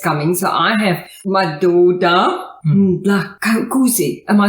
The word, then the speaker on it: Ndlakuse: So I have Madoda, Ndlakuse.